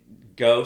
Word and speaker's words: Gogh: So we probably want to start maybe Well, but go spelled like Van Go. G O G H.